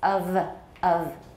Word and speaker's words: of: 这个怎么念 All right, so keep in mind, of, 不是 of or of, it's of. That's the only time that we use F for V in English, as far as I know.